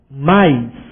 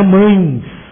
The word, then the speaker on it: mais: conjunções e mais aliás cuidado com a pronúncia correta mais não é mães mais e mais ou com esses conectivos